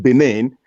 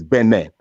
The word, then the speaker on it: Benin: You people pronounce it Benin, but the official language is the official pronunciation is Benin because it is a French word. Benin. Spelled the same, pronounced differently.